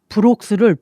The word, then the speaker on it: Brox: 남편의 이름은 마커스 브록스입니다. 이름이 마커스고요. 성은 브록스입니다. 스펠링을 말씀드리자면요. M-A-R-K-U-S B-R-O-X 그래서 마커스 브록스인데요. 엄마는 자꾸 마커스를 막국수로 부르시고 브록스를 브록스로 부르시는 거예요.